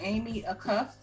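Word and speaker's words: Amy Acuff: i'm glad you said that so am i pronouncing this right amy a cuff yeah amy are they acuff five-time olympian praises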